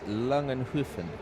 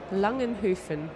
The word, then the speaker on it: Langenhoven: Oh, my wife's tweeted me with the correct pronunciation. It's Langenhoven. Langenhoven.